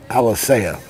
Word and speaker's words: Alicea: Alicea is what my official name pronouncer, Jason Reeves, tells me.